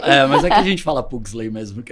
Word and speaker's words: Pugsley: sobrenome do jeito que ele tem que ser pronunciado, não abrasileirado. Ah, tá. Não, Pugsley. se for... aí seria Né? Pugsley, né? Pugsley. Mas aqui a gente fala Pugsley mesmo, que é mais fácil.